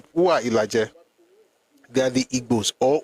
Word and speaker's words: Igbo: The reason they have different pronunciation is because of dialectal differences. The northern Yoruba will call U, I. The ones in the central and eastern Yoruba use U, for instance, Ule, Ulesha, Ushu, Ufe.